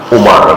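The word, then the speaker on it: عمر: Kalau ada wawu bacanya Amr, ya. Kalau nggak ada wawu bacanya Umar. Kan tulisan zaman dahulu kan tidak ada fathah, tidak ada kasrah, tidak ada dummah, ya. Ini ada wawu, jadi Amr.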